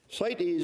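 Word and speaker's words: CITES: need to talk about site site EES is an acronym and it's spelled c Tes it's an acronym for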